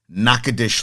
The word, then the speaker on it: Natchitoches: was murdered by a former player, and I butchered the names. So Gumbo Chef reached out to me. It is Natchitoches, Louisiana.